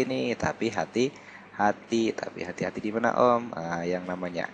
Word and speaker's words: Ohm: Ini dibacanya Om.